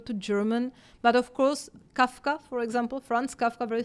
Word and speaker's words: Kafka: of the bird, but it's written with V, and because the pronunciation in German it's F, it's Franz Kafka.